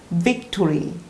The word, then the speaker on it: victory: 입술을 앞으로 세게 내면서 victory. 이때도 뭔가 발음이 뭔가 발사되는 느낌으로 V 발음을 해야 되는 거예요. 그러니까 victory 이렇게 세게 발음해야 되는 건데 그냥 약하게 victory, victory, victory 하면은 그냥 A, B, C 할 때 B 발음으로 들릴 수도 있는 거죠.